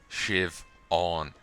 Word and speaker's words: Siobhan: silent b's in there siobhan shiv on prison shiv all as